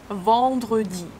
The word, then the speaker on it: vendredi: But you pronounce, as I said, you start the sound here and you push it up. En. Vent. You don't move it. Vendre. E sound. Di. Vendredi. Vendredi. Samedi.